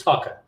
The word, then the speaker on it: Thakur: It is Thakur. We were told by Ravi there, and so we'll practice that one. I'm assuming it's T and not a Th.